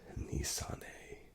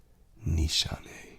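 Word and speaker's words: Nishane: um content creator and he pronounced it Nissan and I saw in the comments someone said you're wrong buddy and so I went and I found how the founder of the company said it and he pronounces it Nishan Nishan.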